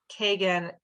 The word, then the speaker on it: Kagan: My name is Kagan, and it's Kagan, K-A-G-A-N. That's G as in George."